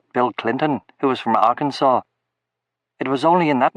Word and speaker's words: Arkansas: Clinton, who was from Arkansas. It was only in that moment that I realized that the state of Arkansas is actually pronounced Arkansas, not Arkansas. I'd been hearing Arkansas, but had no idea where it was.